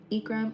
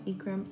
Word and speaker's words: Ekram: My name is Ekram, if you guys can't pronounce it. Ekram, Ekram, Ekram.